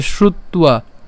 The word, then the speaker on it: শ্রুত্বা: এবং এখানে আমাদের কি ব আছে, আমাদের অন্তস্থ ব আছে, আর আমরা জানি যে অন্তস্থ বয়ের উচ্চারণ কার মতো হবে, উয়োর মতো হবে, তাহলে উয়ো, এবং তার সাথে কি আছে, আকার আছে, তাহলে উয়া, তাহলে শ্রুত্বা, খেয়াল করুন, শ্রুত্বা, শ্রুত্বা।